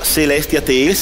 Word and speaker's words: Celestia Tales: Allora, Celestia Tales, è questa la pronuncia corretta?